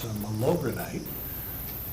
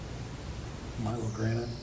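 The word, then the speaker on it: Milorganite: Since it's fertilizer season, I was thinking about malogranite, or is that how you say it? Milogranite, not malogranite, whatever it is?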